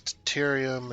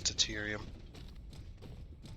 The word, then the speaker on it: deuterium: That's deuterium. I believe it's pronounced deuterium.